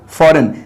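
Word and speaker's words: foreign: stand instance इसी तरह फॉरेन अब इसमें भी जी साइलेंट है अक्सर बच्चे इसको पर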